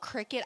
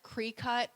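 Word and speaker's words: Cricut: yeah so um it's it's spelled c-r-i-c-u-t people call it cricket i've heard cre-cut i you know i just call cricket it's just it's a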